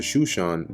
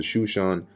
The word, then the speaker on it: Shushan: gather together all the fair young virgins onto Shushan the palace, which is over there somewhere right here. Here it's spelled Susa, but it's talking about the same place.